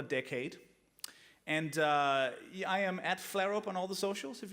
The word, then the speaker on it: Flarup: Danish pronunciation is Flarup.